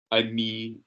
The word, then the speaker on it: ami: Je vais parler avec mon ami. The ami is 2 syllables. Don't be lazy.